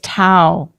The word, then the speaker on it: Tao: It's not Cowism. What was it? It's Tao.